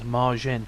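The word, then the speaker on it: Majin: But the name which signs off the message is Madzin, which is pronounced the same as Marjin, which was Nishimura's nickname since he was a child, Marjin being an alternative way to read his given name.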